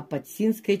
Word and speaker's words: Подсинское: даже вкусные Вот пожалуйста подсинское чудо а подсинское чудо Я даже вот букву такую большую выделила что ударение ставить подсинское чудо потому что за